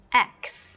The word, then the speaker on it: axe: Nhưng mà khi phát âm lên thì nó sẽ là âm cuối cùng bởi vì chữ e sẽ không được phát âm nhá. Chữ e là một âm, âm cũng được phát âm, cô hay nói là âm âm câm đúng không? Chữ e là âm câm và chúng ta sẽ chỉ đọc là x.